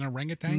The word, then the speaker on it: orangutan: Orangutang. Yeah. Orangutan. I Yeah, I always want to say tang.